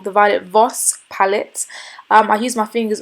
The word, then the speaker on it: Violet Voss: the Violet Voss palette sorry guys I've been pronouncing it wrong The Violet Voss palette I use my fingers also and I